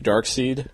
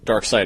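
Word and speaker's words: Darkseid: against are brainiac cersei dark seed dark side excuse me pronounce it wrong every time doomsday the general gorilla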